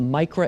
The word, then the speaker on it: Micra: think if I'm saying it correctly it's the Micra AV yes it's the micro AV device and I'm actually proud to announce